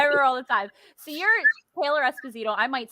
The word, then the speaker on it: Taylor Esposito: So you're Taylor Esposito.